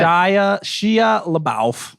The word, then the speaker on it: Shia LaBeouf: I'm pretty sure it's LaBeouf. All right. Oops, I didn't even mean to do that, but Shia LaBeouf. That's how you say it.